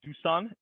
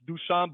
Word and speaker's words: Dusan: information with your community uh my name is dusan that's how you pronounce correctly but you know uh when it